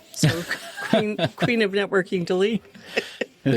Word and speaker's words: Dalene: My name rhymes with queen. My mother when we were bad as little kids used to say, "I'd like to crown you." So queen. Queen of networking delete.